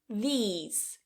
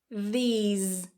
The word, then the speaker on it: these: i these. This, these. Pay close attention to the ending as well, i:z, these. Vibration.